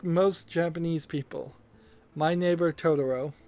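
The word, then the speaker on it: Totoro: they put my neighbor tutoro in fifth now if you ask Most Japanese people my neighbor todoro sorry I Mis pronounced it the first time uh would almost certainly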